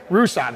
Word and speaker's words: Rusat: So anyways, Rusat. It's not Russet.